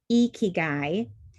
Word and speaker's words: ikigai: It's pronounced ikigai, and it's a Japanese concept.